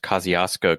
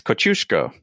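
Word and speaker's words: Kościuszko: after that name and in english they tend to end up being pronounced kosciuszko county i know there's one i think there's one of those in indiana or a nearby state uh-huh but really it's kochusco yeah how would you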